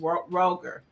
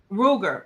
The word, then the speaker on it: Ruger: It's pronounced Roger. Okay, so are you familiar with that gun, Roger? Is it Roger or Ruger? Ruger. Oh, Ruger.